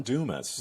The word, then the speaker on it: Dumas: Is his name pronounced Damas? Yeah, Ron Dumas.